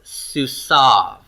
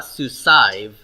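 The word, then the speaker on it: סוּסָיו: This is pronounced susav. Susav. That yod is a silent yod here in this one form. You're going to hear the yod ending in all the other forms, okay? But this is silent. So it's not susaiv, it's susav. Susav. So it's going to be written, but it won't be pronounced.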